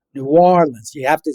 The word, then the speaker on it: New Orleans: I I learned how to pronounce this. Not New Orleans. It's New Orleans. You have to say the W. New Orleans or New Orleans if you've been here for, you know, a native for a long time.